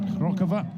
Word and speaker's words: Hrochová: To pronounce it uh as the Czechias as the Czechs would pronounce it Hrochová.